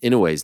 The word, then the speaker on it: Inoue: So I thought I'd let you know that most people put the wrong emphasis on the I in Inoue's name. The correct pronunciation is Inoue.